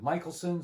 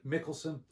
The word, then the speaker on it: Michelson: morley experiment now uh some folks pronounce it michelson some pronouns pronounce it mickelson you know take your pick uh two things i